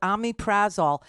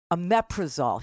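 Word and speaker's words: omeprazole: I should take um I call it Ami prazol and he goes you're saying it wrong aaol he says I'm like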